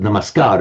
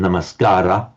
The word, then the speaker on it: namaskar: to the namaskar with namaskar it's pronounced in in modern times the dropping of the final ah in older time namaskcara um the gar means